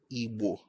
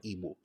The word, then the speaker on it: Igbo: This correction is for people who are Igbo. Don't say I'm an Igbo person.